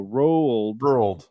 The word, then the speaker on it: Roald: So Roald Dahl. DAA. So it's kind of like when people try to say the word rural. Rural. Okay. Roald. So 2 syllables. Roald.